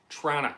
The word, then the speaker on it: Toronto: Yeah, aka the Big Smoke, aka the City, aka Trana, which is spelled Tronna.